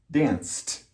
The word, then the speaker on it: danced: Dance. There's no S here, but the C and the silent E sound like S, sounds like an S. So it has the same rule. Danced.